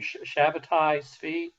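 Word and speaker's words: Shabbetai Tzvi: I always pronounce this guy's name, Shabbatai Tzvi.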